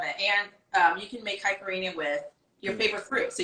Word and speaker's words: caipirinha: Roll your R's if you can. Roll your R's. It's the only reason I try to roll my R's. I'm like, caipirinha.